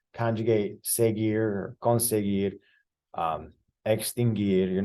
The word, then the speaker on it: seguir: But a verb like seguir, which is spelled S-E-G-U-I-R, it does end in U-I-R, but we don't pronounce the U.